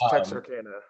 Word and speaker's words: Texarkana: for taking the time uh you you're from Texarkana Texas I hope I pronounced that right it's Texarkana Texarkana wait wait wait wait wait wait wait